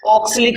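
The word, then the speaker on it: oxalic: ऑक्सलिक बोलते हैं English में तो ए साइलेंट हो जाता है ना। इंग्लिश में अगर इसको ऑक्सलिक पढ़ेंगे तो ए साइलेंट हो गया, और अगर ए को साउंड में लेना है, ए की भी साउंड लेनी है, तो ऑक्सैलिक। दोनों ही तरीके सही है।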